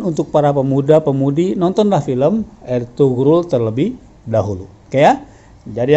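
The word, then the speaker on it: Ertuğrul: harus betul juga ya ditulisnya ertugrul ternyata cara membaca mereka er turut hilang huruf b nya seperti orang membaca Erdogan ya tulisnya Erdogan ternyata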